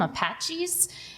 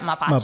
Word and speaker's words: mapache: He keeps calling them Apaches. And my husband says, that's not how you say it. And I said, well, now that's my new name for all the raccoons. Because how do you say it? Mapache? Mapache, yeah. Mapache is a raccoon.